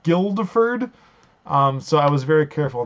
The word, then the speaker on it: Guildford: So I was actually was reading or watching the Game Grumps version of this, and and apparently it's pronounced Guildford and not Guildford.